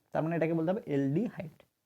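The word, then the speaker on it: aldehyde: মানে এটাকে বলতে হবে এলডিহাইড অ্যালডিহাইডের উচ্চারণ হচ্ছে এল এর মত এলডিহাইডের এল এর মত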